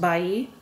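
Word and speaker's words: Ballí: So that comes from Padre Nicholas Bali, sometimes pronounced Bai.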